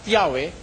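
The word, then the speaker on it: Yahweh: yahwe sabi nila eh while it is almost if not quite certain that the name was originally pronounced yahwe this sabi nitong mga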